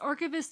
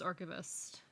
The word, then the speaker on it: Archist: way I is archist archist is just pronounced archist it is just archist you can call me you can call me archist lots of people call me archist or uh archist uh it is archist though it is just the